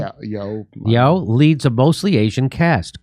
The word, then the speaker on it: Yeoh: Yeah, Yeoh leads a mostly Asian cast.